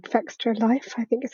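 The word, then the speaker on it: Fextralife: game, is someone called Fextra Life, I think is how you pronounce it. It's like Extra Life, but with an F on the front.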